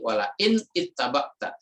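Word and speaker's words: ولئن اتبعت: Kemudian di sini ittaba'ta karena ini ada tasdid, kalau bacanya berhenti walain ittaba'ta, tapi kalau bacanya disambung walain in yang tadinya sukun itu menjadi kasrah, jadi walain ittaba'ta ya.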